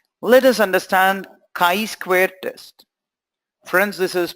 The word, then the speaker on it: chi-square: let us understand chi-square test francis's pronounced as chi-square Chi Chi I math we letter CH is not choice square this chi-squared alright let